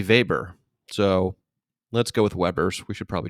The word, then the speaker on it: Weber: the regular pronunciation is Weber and the German pronunciation would be Weber so let's go with